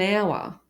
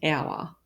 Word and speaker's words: hour: We will leave in half an hour. So again, the H is silent in hour.